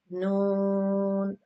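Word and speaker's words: نون: Noon on it on it khada zaba na noon pronounce from the edge of the tongue, tip of the tongue, edge of the tongue pronounce the four teeth front four up the four front teeth.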